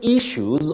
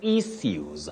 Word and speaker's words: issues: You say February, August, and issues, but the last word you can say issues or issues. So the two pronunciations are acceptable, Yusuf.